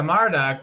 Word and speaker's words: Marduk: about was it Marduk is that how you pronounce it Manik yep yeah Marduk was the one that ultimately was like said